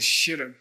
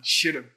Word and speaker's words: shes rab: Tiếng Tây Tạng là SHES RAB. Nó có một chút của âm E, SHES RAB. Các bạn không đọc là sharob. SHES RAB, SHES RAB.